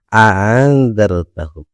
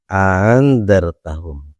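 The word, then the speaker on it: أأنذرتهم: Cara yang ketiga adalah wa tashiliha, yaitu dengan membaca tashil. Membaca tashil itu adalah meringankan bacaan. Jadi kalau hamzah itu seharusnya a, karena dibaca tashil menjadi a setengahnya. Cara bacanya adalah andartahum, andartahum.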